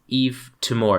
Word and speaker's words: Yves Tumor: to a tortured mind by Yves Tamar is how you pronounce his name Yves I finger Yves